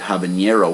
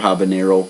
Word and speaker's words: habanero: Most people make that mistake in pronouncing it habanero when it's actually just habanero, because the peppers are named after Havana, or in Spanish, Habana.